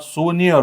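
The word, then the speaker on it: souvenir: इ एन आय आर the correct प्रोन्सिएशन ऑर उच्चार उच्चार या शब्दाचा करेक्ट उच्चार हा सोनियर होतो सोनियर व्हॉट इज सोनियर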